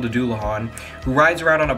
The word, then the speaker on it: Dullahan: We're going to start with, I believe it's pronounced the Dullahan.